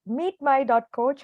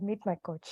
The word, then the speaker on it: Meetmy.coach: Meetmy.coach or Meet.my.coach? Yeah, Meetmy.coach. You can also say Meet.my.coach, not a problem.